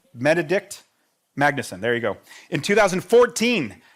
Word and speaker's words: Benedikt Magnusson: Bened How do you pronounce it? Benedikt Magnusson. Benedikt Magnusson.